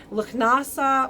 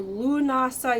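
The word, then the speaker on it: Lughnasadh: Lugnasa or Lunasa, you'll hear people say Lunasa, that's more like Welsh pronunciation. Lugnasa is more Scottish pronunciation.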